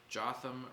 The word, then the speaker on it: Jotham: Jotham rhymes with Gotham.